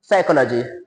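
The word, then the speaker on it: psychology: उच्चार होत नाही असं बरेच शब्द आहेत बघा सायकॉलॉजी सायकॉलॉजी स्पेलिंग कशाने चालू होते पी एस वाय सी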